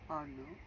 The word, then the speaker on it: Arnaut: Would you be able to spell that name, Arnaud? Yes, Arnaud is Arnaut.